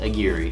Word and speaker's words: Aguirre: Pronounced Aguirre.